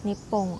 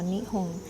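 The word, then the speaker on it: 日本: Japan, pronounced in Japanese as Nippon or Nihon, is a Pacific Ocean island nation off the coast of mainland Asia.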